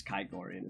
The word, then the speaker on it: Kigorian: Yes, it's Kigorian is how it's pronounced.